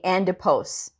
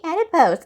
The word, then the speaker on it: adipose: uh oh adipose right i said adipose which is like fatty tissue i was saying andopose endopose and uh one of the pas caught me and he was like uh you know blue is actually adipose i go it's actually adipose and of course he